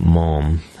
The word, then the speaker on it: ma'am: We pronounce it mom. Yes, it's a New Zealand thing.